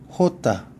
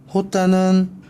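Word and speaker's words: jota: 호따는 영어에서는 지읒이지만 스페인에서는 히읗 발음이 난다는 거.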